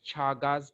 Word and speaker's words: Chagas: is going to cause chagas disease or the other pronunciation is chagas disease so chaga's disease is